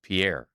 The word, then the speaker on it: Pierre: By the way, I'm being told that this capital of South Dakota is Pierre. Oh, yeah. It is pronounced.